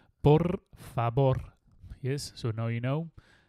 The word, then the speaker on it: por favor: please and it's like por favor yes so the V you pronounce it like a b in Spain so it's like por favor so you don't say